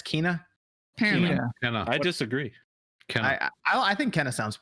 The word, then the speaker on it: Kena: final five seven and that's apparently i've been pronouncing it wrong it's not kenna it's kina i disagree can i i i think kenneth